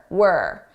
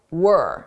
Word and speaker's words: we're: It sounds like were, not we're, were. This is how native speakers say it at a natural pace.